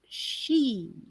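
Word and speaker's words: sídhe: into the Earth and became the Sidi pronounced she or the Fay they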